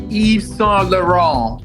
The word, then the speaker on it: Yves Saint Laurent: So how is it actually pronounced? Yves Saint Laurent.